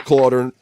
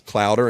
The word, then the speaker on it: Claer: is claer PK it's claer like daughter you had to teach me that cuz everybody says clouder and destroys your life it's pronounced the same way it's German so the cloud the cloud